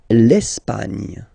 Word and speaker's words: L'Espagne: L'Espagne. L'Espagne. Okay, don't insist on the final E because basically it's not pronounced.